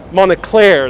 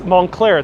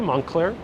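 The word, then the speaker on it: Moncler: this way four blocks this way very close monacler that's montclair that's how you pronounce it montclair it doesn't look like it's spelled montclair are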